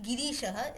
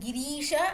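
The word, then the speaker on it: गिरीश: Girisha, usually when the Ri is long, it has some connection with goddess Parvati.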